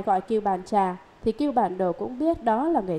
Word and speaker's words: Cưu Bàn Đồ: Đúng ra những chữ này phải đọc là Cưu Bàn Đồ, nhưng hiện nay những người tụng chú đều đọc là Cưu Bàn Trà.